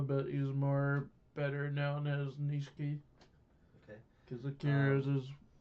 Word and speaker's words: Nishiki: Nishiki, and they're like, oh, we gotta go to